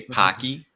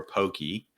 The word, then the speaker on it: Pocky: But obviously in America, it has a different pronunciation, right, Carl? I would assume most people would say it like that, but maybe I'm wrong. But okay. Yeah. If you're listening to this, let us know if you say Pocky or Pokey.